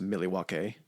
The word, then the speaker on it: Milwaukee: It's pronounced Milwaukee, and it's Algonquin and it's the good land or the great land.